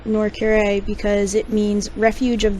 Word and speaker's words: Nor'Kure: up making the name Norcure because it means refuge of the redeemed in Draanic. Now is Oh, is it Norure? Yes. Okay. I've been say Ma'am, I've been saying it wrong.